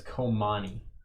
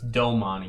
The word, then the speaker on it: Domani: Yeah, it's Komani. That's a C? It's Domani. Domani, okay. I was wondering why I wasn't finding it.